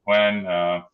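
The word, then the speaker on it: Qwen: Okay, I pronounce it Quen.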